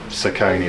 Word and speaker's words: Saucony: you know, so I'm gonna have to go with what I like to run in, which is the Saucony ones.